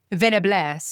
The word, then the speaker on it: Venables: Is that how you pronounce her last name? Venables? Okay. Venables. I didn't know if it was like fancy.